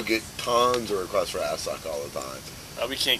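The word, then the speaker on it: Assück: Yeah, of course you gotta pronounce it Assuck. It's got the umlauts. Well, in American English, it's Assuck. It's Assuck, of course.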